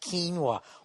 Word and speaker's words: quinoa: salad I guess quinoa even though it's spelt oay is not the way to say it some ass on Twitter is giving me you're driving me crazy it's pronounced quinoa what kind of a